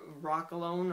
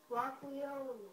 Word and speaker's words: Rock Leon: you coming up here Rock alone or Rock gone hey what is it what how do you say your name Rock Leon Rock Leon Rock Leon I got it Rock Leon so let's just I'm